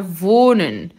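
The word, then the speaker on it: wohnen: vou nem vou nem nesse H é mudo e ele é longo o que vai ficar voo né vou né o h no final da sílaba ele tem a função de alongar alongar a vogal anterior não vou nem namorar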